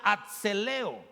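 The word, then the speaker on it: ἀθλέω: Y esta palabra atleta, hermanos, en el griego se pronuncia atzeleo.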